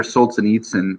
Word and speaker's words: Solzhenitsyn: Alexander Solzhenitsyn is the pronunciation I usually use.